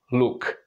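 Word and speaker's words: luk: to schah sound and in check make your lips nicely round ooh ooh look look and look is actually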